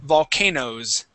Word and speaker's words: volcanoes: Okay, but even when we say potatoes, okay, we wouldn't pronounce that ES sound, okay? Volcano would be the same. All we would say is volcanoes.